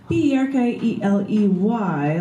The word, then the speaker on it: Berkeley: That's B-E-R-K-E-L-E-Y, like you're barking, Berkeley, you're barking up the wrong tree.